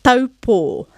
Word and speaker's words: Taupō: Au, au, dog barking. The a from the open sharp sound to the u, closing, blowing out a candle together. Taupō.